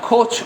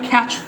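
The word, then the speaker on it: couch: good আচ্ছা দ্যা girl was রিকলাইনিং dash দা কোচ খোচ না এটা উচ্চারণটা আপনারা গুগল দিলে দেখবেন ক্যাচ উচ্চারণটা মানে যদিও মনে হয় কোচ কোচ না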